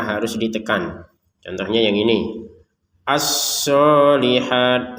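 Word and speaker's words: الصالحات: Asolihat shadnya ditekan.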